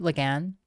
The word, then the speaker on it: Lagan: Lagan, like the author.